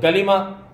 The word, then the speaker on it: کلمہ: معنی میں، الی کلمتن، تو کلمہ پڑھنا ہے، اس کو کلمہ کلمہ نہیں پڑھنا، لام پر جزم نہیں پڑھنی، وہ غلط ہو جائے گا، لام کے نیچے زہر، یہ ہے صحیح تلفظ، کلمہ طیب، ہاں جی،